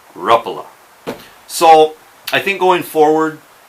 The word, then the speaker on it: Rapala: going to try anyways try to remember to pronounce it Ruffalo and you know another